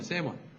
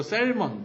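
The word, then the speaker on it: salmon: 그래서 이게 발음이 뭐 셀몬, 뭐 살몬 이게 아니라 여기서 L은 이제 묵음이에요. 그래서 L은 묵음이어서 여기 보면 세먼이에요, 세먼. 또 재밌네요. 네. 어쨌건 그래서 이것도 뭐 셀먼, 뭐 살몬 뭐 이게 아니라 세먼.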